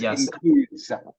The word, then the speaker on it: includes: just remember this includes has an S on the end be careful pronounce the S okay this includes includes okay so remember